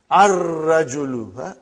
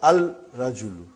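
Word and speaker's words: الرجل: And then, brother, Ar-Rajulu. Ar-Rajulu. The man. Not Al-Rajulu. It will be wrong to say Al-Rajulu. It will be Ar-Rajulu. We won't pronounce Lam. Why? Because it is a sun letter.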